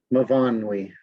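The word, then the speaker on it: Myfanwy: Line 29 of page 5, Mavanwi, that's her name, Mavanwi Price.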